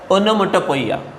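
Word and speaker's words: onomatopoeia: ये 12th वाला figure of speech, last है, ओनोमोटोपोइया, 12th नंबर, ओनोमैटोपोइया, उसको मराठी में बोलते हैं ध्वनि अनुकरणात्मक अलंकार। चलो स्पेलिंग बराबर ध्यान में रखना है, ओनोमोटोपोइया।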